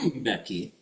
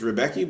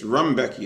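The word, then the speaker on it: Rębecki: Rbecki. Yeah, that's how they pronounce it. Yeah. I used to always think it was Rebecki, but it's Rbecki.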